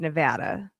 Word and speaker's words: Nevada: So it it is the way you pronounce the name of the state is Nevada.